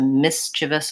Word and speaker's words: mischievous: so he's mischievious versus it was a mischievous plan has first syllable stress yeah so there is